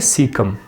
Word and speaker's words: caecum: Spelling का कोई issue नहीं है, मुख्तलिफ बुक्स में अगर थोड़ा सा इशू आ रहा है तो आपको प्रोनाउंस किस तरह करते हैं? सीकम।